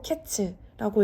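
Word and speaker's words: קץ: 얻지 못한다 하는도다 1절에 여름 과일이라는 말은 히브리어로 카이츠 아고 읽고 2절에서 말하는 끝은 히브리어로 캐츠라고 읽습니다 선지자는 이런 류의 언어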